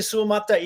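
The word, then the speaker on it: Suamataia: and maybe you can help me with the pronunciation your best offensive lineman Kingsley swamataya am I close there yeah Kingsley suomata is going to be is going to be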